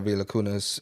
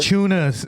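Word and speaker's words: Valančiūnas: If we would want Time Lord or Villacunas, I would say I would prefer Villacunas, right, as opposed to Time Lord. Valanciunas.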